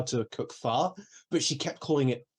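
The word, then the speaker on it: phở: But it's like pronouncing it pho instead of faux isn't like trying to pronounce it their way. It's literally how those letters are pronounced, like for that word. So it's pho.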